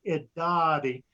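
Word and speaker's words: Irari: The word Idati, it is spelled with an R, I-R-A-R-I, but it's pronounced Idati.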